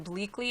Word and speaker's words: Bleakley: welcome everyone today my guest is Holly Hamilton bleakly am i pronouncing that right yes and Holly is the